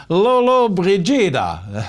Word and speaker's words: Lollobrigida: C'est également l'anniversaire, vous allez sûrement vous en souvenir, moi je m'en souviens, Gina attendez, il faut que je le prononce comme il faut, Lollobrigida.